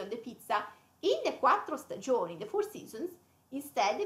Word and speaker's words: quattro stagioni: The two T's and the R.